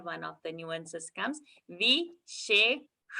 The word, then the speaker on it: विशेषका: So both the shas are here together, and the pronunciation when we are showing, it should be differentiated in what we are saying. One sh and one is sh, where you touch the roof or tip of the tongue to the roof of the palate.